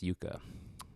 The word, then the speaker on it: Jukka: It's Jukka.